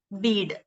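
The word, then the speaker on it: Bede: kinawolf and venerable beat vulnerable beat b-e-n-e-r-a-b-l-e venerable bead b-e-d-e then some old english manuscripts we got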